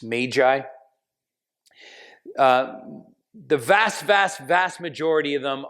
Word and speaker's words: magi: Generally speaking, the magi, which we actually should pronounce magi. It's like tomato, but it's magi.